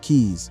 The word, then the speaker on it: Key: It's most likely his completed Belizean development, Prince Key, pronounced Keys, like the Florida Keys, which the Houston hip hop mogul reportedly bought seven years earlier.